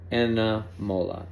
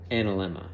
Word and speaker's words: analemma: Chapter 4, the solar path time-lapse signatures and the anamola. And it is also said analemma. I believe it's both ways pronounced.